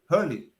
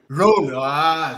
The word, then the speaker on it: rule: Como é que pronuncia a regra mesmo? Hurley. Rule.